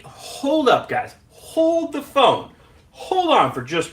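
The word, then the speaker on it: phở: So, pho, right? You may know it pronounced as pho. That's not correct. It's pho. I may even not be saying it quite with the inflection correctly.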